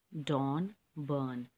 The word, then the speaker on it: Donn Byrne: The pronunciation is Dawn Byrne, and it's a play.